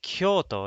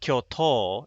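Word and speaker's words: 京都: written like this tokyo in kyoto is written like this kyo so it's not kyoto it's kyoto so they're technically not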